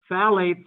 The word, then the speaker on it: phthalate: Just say the N, phthalate, with a hint of a P at the beginning, a silent P at the beginning.